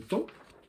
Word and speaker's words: temps: Tempus en latin, le temps, PS, on entend temps, on pourrait l'écrire T-A-N, T-E-N, on a ajouté un P et un S qui ne s'entendent pas pour redonner du prestige à la langue.